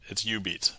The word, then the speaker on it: Jubeat: But yeah, so if anybody's curious, that's spelled Jubeat, but it's U-Beat.